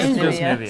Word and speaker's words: Nivea: And I don't think the way you pronounce Nivea is a regional thing. Soft, brisk toothbrush. It's just Nivea.